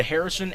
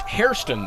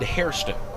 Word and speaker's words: Hairston: first one away mispronounced hairston there that's an easy uh an easy slip it sounds so much like harrison but it is indeed hairston h-a-i-r-s-t-o-n the lexington native